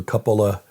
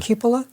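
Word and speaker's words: cupola: Um there are those who believe, by the way, there's a smaller little dome called the Capola. Capola. How do you pronounce that? Cupula. Cupula. Thank you.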